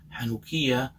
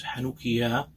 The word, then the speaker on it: Hanukkah: Balkan countries, it was referred to as Hanukkah, or as Hanukkah, depending some of those who said it with the accent on the first syllable or second syllable, third syllable.